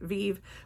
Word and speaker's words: Vieve: All right, this is Oh, Viv. And this time, hopefully I said it right. Viv like Genevieve.